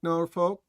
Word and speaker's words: Norfolk: norfol we don't drink we don't smoke norol Norfolk right that that's or that's the that's something like that norfol that's how it's pronounce North Folk um uh so go see